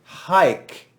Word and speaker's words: hic: Because the Romans set the pronoun haik before it. And I'm using classical pronunciation. Haik, because it's easier to spell classical pronunciation.